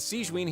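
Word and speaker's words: Sigewinne: to introduce you this is the infirmary and siegeween here is the Fortress of marapid's head nurse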